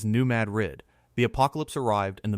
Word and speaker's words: New Madrid: In the tiny town of New Madrid, Missouri, pronounced locally as New Madrid, the apocalypse arrived in the middle of the night.